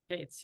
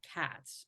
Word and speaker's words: Kates: joined by filmmaker Nancy Kates I hope I pronounce it right it's Kates right Kates yes my grandfather be it used to be spelled k TZ my grandfather got tired of being called cats but people call me